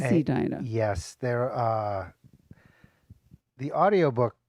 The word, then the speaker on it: Edina: because I don't know is it pronounced a Dina or Edina Edina it is Edina yes they're uh the